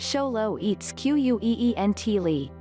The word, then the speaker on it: xoloitzcuintli: squint Lee the Aztec word for dog it's pronounced show low eats qu ee and t li - even if you're familiar with the breed